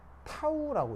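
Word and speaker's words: τ: 자, 그거에 대해서 이제 뒤에 붙어 있는 게 이게 적분 변수 표시인데 이 적분 변수가 뭐냐면 얘는 읽을 때 타우라고 읽어요. 타우라고 읽고 의미는 3차원 3D 중적분 변수예요.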